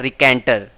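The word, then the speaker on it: raconteur: Tell करने में तो उसको रिकेंटियर बोलते हैं, या फिर इसका शुद्ध प्रोनाउंसिएशन होता है रिकेंटर। तो मैं स्पेलिंग याद करने के लिए इसको रिकेंटियर याद करता था, लेकिन अगर इसका शुद्ध प्रोनाउंसिएशन की बात करें तो रिकेंटर होता है।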